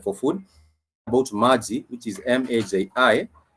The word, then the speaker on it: maji: About maji, which is M-A-J-I, it has that ma and g component in it. So ma has the syllable a, vowel a, and then the syllable g has that e, the vowel e, on that particular word as well.